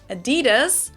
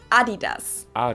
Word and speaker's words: Adidas: were referring to because they usually pronounce it Adidas and in Germany we say Adidas because the accent goes to the a Adidas Adas super different